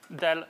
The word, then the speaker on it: del: you quickly about the dell notation so this guy usually pronounced as del rather than as you know pointed triangle going downwards or something like that